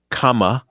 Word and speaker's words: Kamala: It is Kamala, like is in using a comma. Kamala Harris.